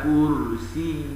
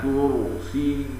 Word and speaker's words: كرسيه: ويرققون الراء من كرسي فيقرؤونها: وسع كرسيه السماوات والأرض، والصواب تفخيم الراء: وسع كرسيه السماوات والأرض.